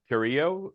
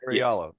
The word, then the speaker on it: Carrillo: Carriallo. Sorry. With the Spanish, you don't pronounce the double L. With the Italian, you do. So I did. I went with the Spanish pronunciation based on location.